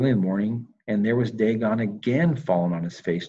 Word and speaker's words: Dagon: on the threshold only dagon's torso was left of it and uh that was one daggone i i think it's pronounced dagon but i always say dang on because that was one